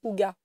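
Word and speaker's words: hygge: du IG mais alors en danois ça se dit Hugga j'ai du mal à réconcilier Hugga avec IG comme ça s'écrit ça s'écrit h y g g e et Hugga bref je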